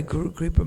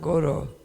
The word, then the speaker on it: guru: to tell him that he was mispronouncing the refrain it is guru not goro. Praa told him go means cow. The spiritual master is not a cow.